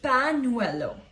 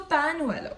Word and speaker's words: pañuelo: We pronounce it in Spanish as near. Alright. So one example for you is pañuelo. Okay. P-A, then this, then U-E-L-O. That means handkerchief in Spanish, right? So pañuelo, right?